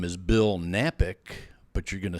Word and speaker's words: Knapik: And my name is Bill Knapik, but you're going to say, "Oh man, I don't know how to spell that." Well, here's the key, Kevin. The K is silent, so just go to Bill.